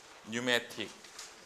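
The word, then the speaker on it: pneumatic: 네뷸라 영어신데 네뷸라이제이션 뉴매틱 여기 P는 묵음이고 뉴매틱은 무슨 뜻이야?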